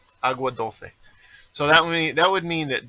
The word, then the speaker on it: Agua Dulce: Well, okay, so I mispronounced it. It would be agua. Agua dulce.